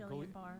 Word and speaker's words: Guillain-Barré: According to the NIH, several conditions may mimic brain death: locked-in syndrome, hypothermia, drug intoxication, Guillain, how do you pronounce that? Guillain-Barré.